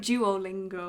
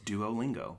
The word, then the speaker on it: Duolingo: duolingo do it yeah that's how you say it duolingo there's no ch in that in that name it's duolingo have you used this